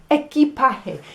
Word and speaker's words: equipaje: like yorkshire so um it's going to rhyme with words like voyage or trip viaje and language lenguaje garage garaje so maybe you could